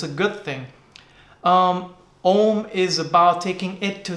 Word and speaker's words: Om: Om is about taking it to this highest level of consciousness, supreme consciousness. It's made up of 3 syllables, A, U, Ma.